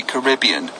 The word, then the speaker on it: Caribbean: But so, I got to the Caribbean, and I asked the people from the Caribbean how they pronounce it, and they say Caribbean.